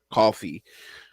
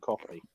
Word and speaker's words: Ko-fi: actually use the Ko-fi or whatever it's called, coffee. I'm assuming is what they pronounce it as.